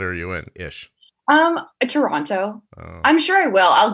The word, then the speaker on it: Toronto: service this morning wait you know how it's t-o-r but yes a lot of you want to say tr like anto yes toronto like that yeah don't worry i